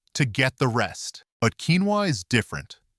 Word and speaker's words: quinoa: Here we are at number 5 with a food that was once considered exotic, but is now in every grocery store: quinoa, pronounced quinoa.